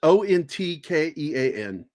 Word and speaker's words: Ontkean: Yeah, Michael I can never pronounce that name. Ontkean? Ontkean. Yeah. It's Ontkean.